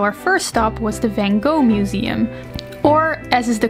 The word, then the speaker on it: Van Gogh: more museums so our first stop was the van go Museum or as is the correct Dutch pronunciation V what we were all surprised